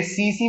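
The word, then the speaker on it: tsetse: ये इसमें बोलोगे सर इसमें तो CE, तो CE भाई, टी कहाँ को आ रहा है बेटा? वो साइलेंट है वो।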